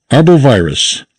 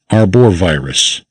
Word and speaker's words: arbovirus: Arbovirus, arthropod-borne virus, one transmitted by mosquitoes, ticks, etc. Note, this virus has nothing to do with trees, so its name is not arborvirus.